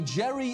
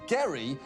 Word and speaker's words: Gerry: wrong to notice that the jerry in gerrymander refers to a guy whose name was actually pronounced gary because literally everything about